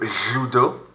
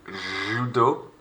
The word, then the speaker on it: judo: Notice how these two right here are pronounced exactly the same despite the spelling difference. So au kart. Du judo. Du judo.